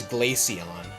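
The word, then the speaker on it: Glaceon: Is Glacion pronounced like Glacier or did this one girl lie to you? Like Glacion? No, it's Glacion.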